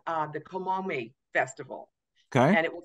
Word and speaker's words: Kamome: morning is it's going to be called the komome festival okay and it will take place in